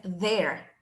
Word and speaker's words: there: Entonces la versión correcta es there. There. T-H-E-R-E. There. Y la pronunciación de la TH siempre es como que un soplido o vientecito así como there.